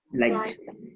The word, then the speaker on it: light: Light. Light. La GH no suena para nada.